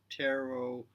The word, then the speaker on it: tarot: but if you read tarot backwards, like from right to left, the way you write Hebrew, that it would spell out Torah, because in tarot, the final T is not uh pronounced.